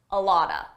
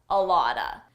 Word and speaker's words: a lot of: I got a lot of merch. I got a lot of merch. Here I used a reduction. A lot of is pronounced a lotta, a lotta.